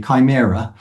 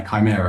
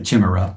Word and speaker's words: Chimera: I called it a Chimra because um who knows what the pronunciation is when you're 9 10 years old.